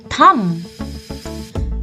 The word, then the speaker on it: thumb: it it's your thumb in this word also the letter B remains silent we don't call it a thumb we call it a thumb the correct pronunciation to this is thumb how do you pronounce